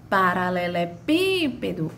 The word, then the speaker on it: paralelepípedo: Paralelepípedo, o paralelepípedo. Vê, ó, o pípedo foi a que mais se arrastou, foi a que teve a maior tonicidade, foi a que eu demorei mais pronunciando.